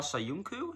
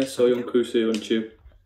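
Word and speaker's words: Söyüncü: So you've got Dean Henderson of Sheffield United, Kaglar Soyuncu, is that you pronounce it? Yeah, Soyuncu.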